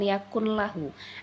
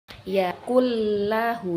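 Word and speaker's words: يَكُن لَّهُ: Tapi cara membacanya bukan yakun lahu, akan tapi yakul lahu, dimasukkan tapi dia tidak dengan dulu, bukan. Jadi bukanlah yakun, bukan, tapi yakul lahu. Walam yakul lahu.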